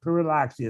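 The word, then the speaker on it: Pyrrhuloxia: Puriloxia is how you say it.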